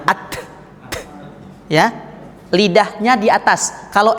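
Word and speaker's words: ت: tadi ini ba sekarang Ta bacanya ahah at ya bunyinya th Ya bukan jangan ditambah S nah at ya lidahnya di atas kalau S lidahnya dig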